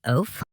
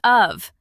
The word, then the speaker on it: of: Remember, a heart word is a word we learn by heart because part of it doesn't follow the sounded out rules.